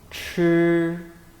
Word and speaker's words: 吃: 吃吃 It is similar to 知 except it is an aspirated sound. You must produce this sound with more breath.